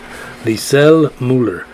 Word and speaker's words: Lisel Mueller: heard the laughter we understood freedom yep yep lisell mueller l-i-s-e-l-m-u-e-l-l-e-r they sell mueller wow yeah i like